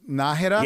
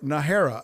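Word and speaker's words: Nájera: and it's funny because there's two pronunciations for nahera it's nahed yes or nahira i mean you you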